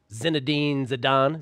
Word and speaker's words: Zinedine Zidane: Something about Zinedine Zidane. Is that how you pronounce it, Jorge? You got that right.